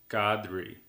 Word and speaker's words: Qadri: It's as though you would pronounce it with a K. So, Qadri.